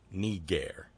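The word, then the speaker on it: niger: south who learned that the Latin word for black is n I ger need air we know that's how it's pronounced because we were given pronunciation rules by ancient Roman and Latin writing authors need air this is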